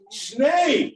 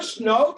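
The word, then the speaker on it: שני: Shnei, not shnot. It's not shnot, it's shnei, right?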